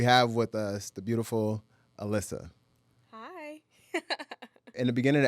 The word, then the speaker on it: Alyssa: It's Alyssa.